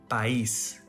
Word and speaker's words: país: For example, país. This word ends with an S letter. We learned that if a word ends with a vowel or N, S letter, the stress syllable is next to the last. But this one doesn't follow the rules, so it has an accent mark to tell us which syllable is the louder one.